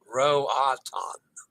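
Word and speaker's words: Roatán: Remember to pronounce O as an O and A as an A as in father. Yes. I did wrong. Roatan.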